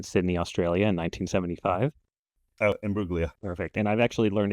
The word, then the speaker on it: Imbruglia: Oh, Emblia. Perfect. And I've actually learned it's immugia. I had to look on Wikipedia. I guess the G is silent.